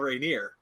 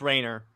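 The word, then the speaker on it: Rayner: a mention of Kyle Rainier yes in Justice League it's pronounced Rainer whatever so we we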